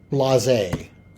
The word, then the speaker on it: blasé: Blasé. Okay. Not a common... pronounced in a French way, so maybe that was why it wasn't quite clicking.